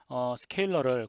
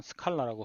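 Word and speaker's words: scalar: 그 다음에 벡터는 스케일러를 곱할 수가 있습니다. 실수값을 곱할 수가 있는데요. 이 값을 스케일러 벡터 멀티플리케이션이라고 합니다. 스케일러는 스케일러라고 적고요. 한국말로는 스칼라라고 흔히 번역이 되는데 원래는 스케일러라고 읽어야 됩니다.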